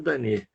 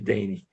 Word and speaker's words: Dane: Denis ou Danet, né? A pronúncia certa seria Danet, mas a maioria chama ele de Denis.